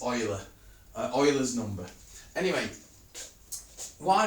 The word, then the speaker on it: Euler: layer art or ela we pronounce it oil rather than you so it's Euler or Euler's number anyway